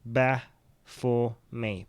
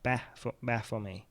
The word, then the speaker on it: Baphomet: Truth Begets Heresy is telling me how to pronounce this. Baphomet. Baphomet.